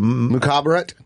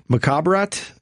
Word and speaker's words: Mukhabarat: Mukhabarat. Mukhabarat.